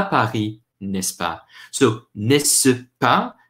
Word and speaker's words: n'est-ce pas: So, n'est-ce pas, pronounced quickly, n'est-ce pas, just is like saying, is that not so?